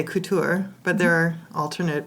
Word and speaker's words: Couture: pronunciations which are Couture and then of course and so this is a and we're going to go with the French pronunciation today because that sounds that